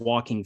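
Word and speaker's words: Joaquin: had this observation that walking phoenix his first name sounds like the word walking so we went and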